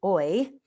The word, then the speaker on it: oi: means so in here the word is oi you pronounce it oy and it means hello so i'm going to